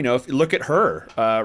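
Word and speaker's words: H.E.R.: year mark um um her is that how you say it h just H dot e Dot are her yeah we got you yeah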